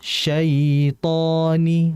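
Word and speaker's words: شيطان: Makanya tadi di antara kesalahan sifat lin pada huruf ya mati adalah kita membaca dengan menghentak sitoni yang harusnya syait syaitoni dialirkan dulu sani bukan syaitani tidak kemudian jangan imalah ke e syaitani tidak boleh harus ke i itu pada sifat lin pada ya.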